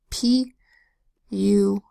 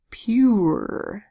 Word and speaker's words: pure: next word here spell pure2 the e makes that you long you says you pieces you pure what blends together it says pure not pur pur if you want to